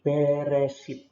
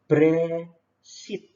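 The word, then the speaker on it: בראשית: Jadi Beresit. Tapi bacanya yang benar adalah E-nya ini cepat banget, makanya ditulis E di sini cepat banget, makanya ditulis ke atas. Jadinya bacanya Bresit.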